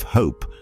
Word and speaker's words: hope: The silent E at the end of hope makes the O long, completely changing the word.